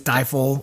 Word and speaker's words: Stifel: It's Stifle, or it's spelled Stifel.